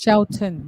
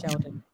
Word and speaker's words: Shelton: No, it's Shelton, not Sheldon.